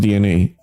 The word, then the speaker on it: DeNA: of it though uh I I I think DNA the company making this game I know I know it's spelled Dena but it's actually pronounced DNA we got exe GNA do here because Phil